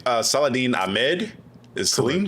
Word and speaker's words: Saladin: For people that are asking, uh, the book was written by I'm probably going to mispronounce his name. Uh, Saladine Ahmed. Is it Seline? Saladine.